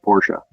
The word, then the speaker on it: Porsche: let you know and uh it is actually pronounced Porsche okay that's all very anti-climactic I'm sorry that